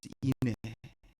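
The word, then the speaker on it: 인애: 하나님을 아는 것을 원한다 여기는 해라고 수 있어 인해 예 발음 잘해야돼 내 우리 인내 자매 계셔서이 나때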